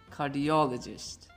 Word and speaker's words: cardiologist: However, the correct way is to put the stress on the syllable before that. For example, it's not biology, biology, biologist, psychology, psychologist, cardiology, cardiologist. And the same rule applies to these words as well.